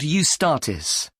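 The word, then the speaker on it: Eustatis: The next day, the 18th, there's a performance by a ballet company called Ustartis. Sorry, the name is spelled E U S T A T I S.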